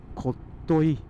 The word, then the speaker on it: 特牛: 何あれ、下関の下の文字、特牛と書いてこっとい、こっといなんて読めない、あれ知らなきゃ。